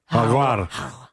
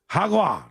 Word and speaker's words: jaguar: Haguar. Whoa. That's how they say it in Mexico. Hagwa. Hagwa.